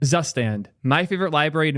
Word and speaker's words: Zustand: y'all get to hear the right way to pronounce zustand on my channel and that is the last time you will ever hear zustan pronounced correctly on my channel because I am never ever saying it that way I don't care with